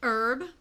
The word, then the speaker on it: herb: I say garage and Herb the H is silent to me uh schedule because I'm